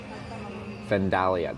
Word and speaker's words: Vandalia: Vandalia, that's the one.